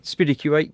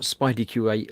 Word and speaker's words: SpiddyQ8: He says, "Where did the name SpiddyQ8 come from?" And I have a question for you. It is SpiddyQ8, not SpideyQ8, or how would you like it pronounced? Well, I've always said SpiddyQ8 because it's combined of